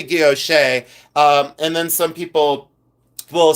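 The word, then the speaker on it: guilloché: I say guilloche, and then some people will pronounce it another way, but I say, yes, it is guilloche.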